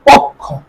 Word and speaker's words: পক্ষ: তারপরে পক্ষ, পক্ষ, পক্ষ, পক্ষ, ওকার ক হসন্ত খ ওকার, পক্ষ উচ্চারণ করে পক্ষ।